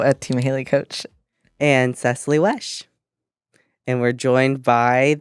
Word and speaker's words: Cecilee: It's always Cecilia. And it's actually Cecilee Wesh.